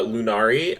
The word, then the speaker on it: Lunari: Uh, Lunari, uh, welcome to broadcast. I hope I'm not horribly mispronouncing your name. Uh, what's up? Sorry. Say again. It was perfect.